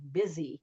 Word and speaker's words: busy: And then there's like some words that are spelled with a U, like busy or business.